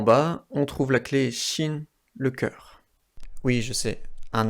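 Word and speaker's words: 心: En haut à droite, une autre clé qui se prononce aussi mu, et qui veut dire œil. En bas, on trouve la clé xin, le cœur.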